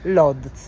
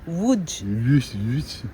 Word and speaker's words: Łódź: che si chiama Allora, noi la leggiamo Lodz, ok? Perché le lettere per noi sono simili a quelle, ma in realtà si dice Łódź.